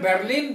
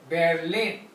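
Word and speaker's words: Berlin: रहते हैं इन बेलिन ये इंग्लिश में बर्लिन बर्लिन बोलते हैं बर्लिन बोलते हैं लेकिन हि जर्मन में आर जो है जो एर एर जो अल्फाबेट है वोह साइलेंट है बेलिन को हम बोलेंगे बेलिन बलिन बेलिन नहीं बोलेंगे बेलिन यर और यर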